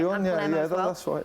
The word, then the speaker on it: Sion: Now, to be honest, apparently there are talks with a Swiss outfit as well, FC Sion. I think I'm saying it right. Sion, that's right.